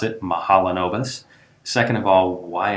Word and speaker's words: Mahalanobis: so people wonder first of all how to pronounce it mahalanobis second of all why it's called that and